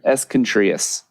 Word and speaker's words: Escontrias: Klein bomb I uh escontrias hi did I say it right no to say it again escontrias contas the accent on the three and uh commissioner skba